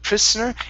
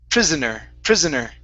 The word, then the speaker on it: prisoner: Let's go to a voiced S sound here. Instead of prisoner, it's prisoner. Okay, very good.